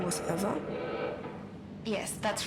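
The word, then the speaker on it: Ewa: don't mind did you say your name was eva yes that's right so you have the same name as the thing could you please not compare me to a lifeless machine besides eva is spelled e w a not e v e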